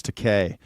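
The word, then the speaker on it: Takei: No one can do the uh George Teay. It rhymes with gay.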